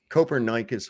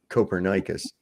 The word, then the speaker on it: Copernicus: that's funny do better coper Nikas would be ashamed of you these people they don't even know how to say the guy's name right Copernicus the coper nikan principal